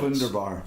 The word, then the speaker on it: Wunderbar: Wunderbar. So if it's a V, it's pronounced as an F. In German, it would be. Oh yeah, W's are V's And V's or F's. and V's are F's.